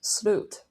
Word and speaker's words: slut: In Swedish, it's pronounced SLUT.